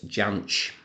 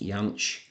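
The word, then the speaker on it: Jansch: it which is Bert Jan so I am aware that I think technically his surname should be pronounced Yan but Bert himself always pronounced it with the hard J so that is how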